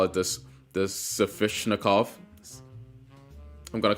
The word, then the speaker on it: Sveshnikov: Sveshnikov. Sveshnikov. Sveshnikov. They're saying it like it's an N in between it, but it's a V. So I'm just gonna say it like that.